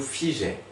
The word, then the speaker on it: figeait: La crainte nous figeait. Figeait, faut faire attention au E qu'on n'entend pas, le E muet, nous figeait, je hais.